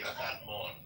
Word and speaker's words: salmon: Well, in Spanish, we say salmon. So the L is pronounced in Spanish. I think that's part of where I get this butchered is because you do pronounce the L.